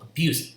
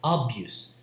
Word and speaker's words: abuse: and because the syllable the stress is on the second syllable abuse it's not abuse so the first syllable